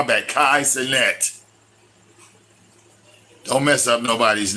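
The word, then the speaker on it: Kai Cenat: and all he does oh I'm sorry Kai oh she corrected me his I said his name wrong my bad Kai CET don't mess up nobody's name Kai CET okay he's on Twitch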